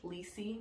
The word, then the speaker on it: Lisey: Lisey. It's supposed to rhyme with Cece.